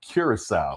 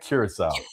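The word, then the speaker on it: Curaçao: know how did Duracell it's the C with the little thing underneath it I didn't pay attention to the accent I don't even know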